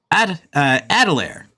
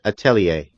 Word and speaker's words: Atelier: for a year now how I was saying it is adelaire because that's how it's spelled yeah a-t-e-l-i-e-r uh okay gotcha Atelier but how it's actually said is Atelier oh yeah yeah [